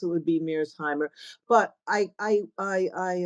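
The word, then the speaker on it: Mearsheimer: it's yeah so it really corre would correctly pronounce it would be MIRS Heimer but I I I I um I I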